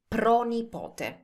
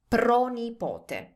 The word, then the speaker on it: pronipote: If you want to say great-grandson or great-granddaughter, that is pronipote. Pronipote. Notice how it's pro plus nipote.